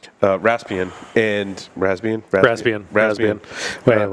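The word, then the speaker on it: Raspbian: the security update for rasbian uh raspian and rasbian Ras rasbian ran whatever thank you I say the P so I remember to type it because I I I spell it wrong yes um but they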